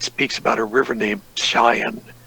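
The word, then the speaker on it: Pishon: about a river named Cheyenne actually how you pronounce it you ignored the P with quote which encompasses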